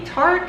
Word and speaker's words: Tarte: It is the Tarte, let me say it correctly here, the Colored Clay CC Cream.